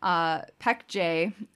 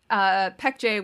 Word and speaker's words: Baekje: The kingdom of Baekje, I heard a Korean pronounce it, and they said it's with a P sound, even though it has a B, so, you know, languages.